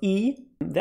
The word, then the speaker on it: aether: to each other but whenever this is this diphthong ae from latin then it's e so you have words like larvi antenni formulae and also very daughter relevant eat the lens it's not aether lens ether lens so get your pronunciation right it's aegis ether and thank you for